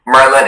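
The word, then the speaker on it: merlon: Merlin is the only pronunciation.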